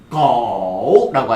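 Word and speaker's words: 狗: 그다음에 개는 거라고 하시면 돼요. 발음해 볼게요. 거 발음 시작.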